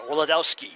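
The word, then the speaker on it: Wladowski: Wiladowski. Fouled by Hughes, I think. Brad, it's spelled W-L-A-D. Owski. So I want to pronounce the W. I think it only sounds better. Wiladowski.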